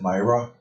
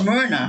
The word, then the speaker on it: Myrna: Is it Myra? I always say her name wrong, Carol. Is it? It's Myrna. Myrna. It's Myrna.